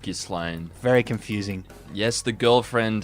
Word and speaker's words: Ghislaine: break things up and galain Maxwell has asked her guards why her jail cell has been covered in plastic and left unlocked I believe it's pronounced Gan very confusing yes the